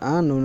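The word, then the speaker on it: أنا: আনা এখানে হামজা জবর আ নুন আলিফ জবর না যদিও আছে কিন্তু আলিফের উচ্চারণটা হবে না আলিফের কারণে এখানে টান দিয়ে পড়তে হবে না বরং আনা টান ছাড়া পড়তে হবে লিখতে আলিফ আসবে পড়তে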